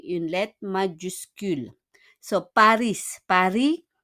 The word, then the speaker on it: Paris: Paris, on prononce pas le S.